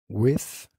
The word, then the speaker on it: with: With, without, with, without, with, con, without, sin. Ten cuidado con la pronunciación de TH.